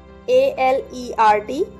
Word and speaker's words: alert: A-L-E-R-T alert. इसमें R silent है तो इसे हम नहीं बोलेंगे।